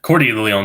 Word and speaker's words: Cordileone: Cordileone, there you go. That's how you pronounce it. Corleone, like he's mafia.